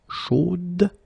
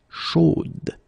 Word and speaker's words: chaude: You will have to put this final e, chaude, okay, at the end, and then the pronunciation will change a little bit, chaude. So here you pronounce the final d, whereas in the masculine form you don't pronounce it.